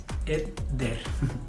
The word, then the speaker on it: Edder: Y sí, la pronunciación correcta de mi nombre es Edder.